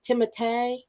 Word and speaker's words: Timothée: And Timothée Chalamet is the lead in Dune, and his name has an accent in it, and it actually is pronounced Timothée.